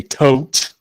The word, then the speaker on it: Thoth: I should use my Thoth deck just so I could say tote, which is how I actually pronounce it.